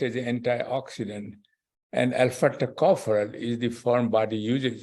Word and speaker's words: tocopherol: Tocopherol.